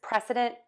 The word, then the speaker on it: precedent: So here are two words, precedent and president. So both of these words are going to have three syllables.